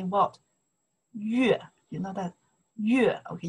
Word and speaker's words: 月: Yue. You know that? Yue. Okay, you say moon, right? Yue.